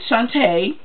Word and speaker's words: Shanta: Well, with Shanta, that's her name, that's how you pronounce it.